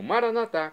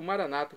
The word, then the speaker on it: Maranata: pai onisciente e agora eu clamo maranat como dizemos nós católicos ou Maranata como dizem nossos irmãos separados os evangélicos ou protestantes não importa pronúncia o significado é o mesmo vinde Senhor Jesus um